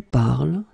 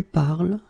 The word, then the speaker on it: parles: it je parle, tu parles, il parle, elle parle. So it does mean that even if you write them differently, E, ES, and then ENT, you will pronounce them the same way.